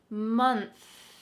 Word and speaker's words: month: it with me month i think that the th at the end of words is tricky for english learners because you often practice th at the beginning of words thursday thanks theater but when it comes to the end of the word it kind of gets skipped over so let's make sure